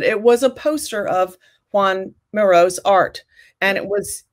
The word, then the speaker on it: Joan: really john miro but instead of spelling him juan which is the way you pronounce it they spell it joan which is very confusing anyway that solves that